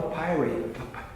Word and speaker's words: papyri: But the cool thing is, they're all papyri. I asked somebody once, how do you pronounce this word? He said, papyri.